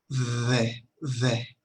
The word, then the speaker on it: the: Parece una D, pero realmente no lo es. Es como una D y una F combinada tal vez. Tratamos de pronunciar la D, pero con mucho aire. The.